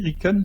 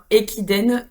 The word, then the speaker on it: Ekiden: sujet, c'est quoi en fait Alors comment ça s'écrit, Riken? C'est R... et non, Ekiden, Equiden, pardon.